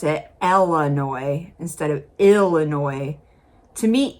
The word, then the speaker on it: Illinois: It's more of a lazy way of speaking, But what you never want to do is pronounce the S.